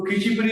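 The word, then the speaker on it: Khecheopalri: खिचियोपर्ली is written, खिचियोपर्ली in pronunciation, in local pronunciation over there is खिचीपीड़ी. If you ask, they will all say खिचीपीड़ी, right?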